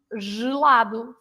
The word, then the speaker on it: gelado: So gelado, girafa, and even in the middle of the word, like agenda or giro. Also, you have also the word giro, cute. So these are words that are pronounced with the sound j, Yeah.